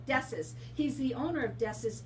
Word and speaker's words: Dessis: My next guest is Hector Dessis? Dessis. I said it right. It was hard, but I got it. Dessis.